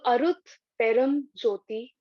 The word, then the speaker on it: Arut Perum Jyothi: So, we say this first line twice, Arut Perum Jyothi. So I've written it in the chat so that all of you can see the words, and that helps with the pronunciation.